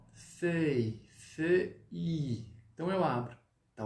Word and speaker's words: feuille: Ou seja, vamos lá, pessoal, como que a gente vai pronunciar feuille em francês? Folha. Feuille. Então, você vai falar, primeiramente, o que? O E. Qual que é o som do E mesmo? É o O com um biquinho.